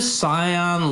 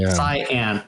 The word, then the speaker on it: cyan: big upside down blue cion look cion how do you say that word it's the um it's the light blue color C cyan yeah uh cyan looking tree that